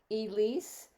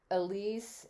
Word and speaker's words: Elise: I have no idea, but yeah, it's a French name originally, Elise. And so everybody should know, Arne asked me how to pronounce my name, and it's been pronounced so many ways. Elise, Elise, Elise.